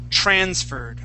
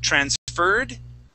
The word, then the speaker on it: transferred: Okay, our next word is going to be transferred. Okay, the accent goes at the very beginning of the word. Instead of saying transferred, okay, the word is transferred.